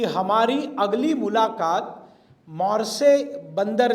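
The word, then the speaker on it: Marseille: सावरकर जी बताते हैं हमारी अगली मुलाकात मारसे बंदरगाह पर होगी। वो मारसे का फ्रेंच स्पेलिंग आप करेंगे तो मॉर्सेसलिस कहेंगे लेकिन वो फ्रेंच उच्चारण मॉरसे है।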